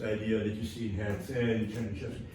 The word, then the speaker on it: Herzen: that you see in Herzen, Chernyshevsky. Sorry, Getsen, you would say, right, in Russian, because can't be pronounced if you're from there.